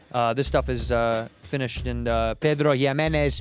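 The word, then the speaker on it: Pedro Ximénez: This stuff is finished in Pedro Jimenez PX Echerica. You got to say it like that, otherwise it doesn't count.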